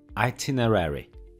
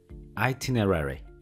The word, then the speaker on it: itinerary: jest nieco człowiek i ze względu na swoją wymowę itinerary itinerary ale spoko nie musicie się nim martwić ponieważ